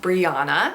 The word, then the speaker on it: Briana: This name can also be spelled with one N, and that is pronounced Briana.